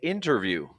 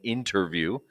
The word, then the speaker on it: interview: Some people might say interview. It's not really wrong. There's nothing wrong with saying interview. It's just very common or prevalent to hear interview.